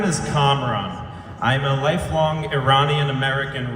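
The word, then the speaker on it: Kamran: campaign here we go see my name is comron I'm a lifelong Iranian American resident of Westchester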